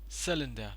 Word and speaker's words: cylinder: syllable over here and just cooled as cylinder cylinder not cylinder or cylinder or something so it's the stress is on the first syllable it is cylinder once again let's go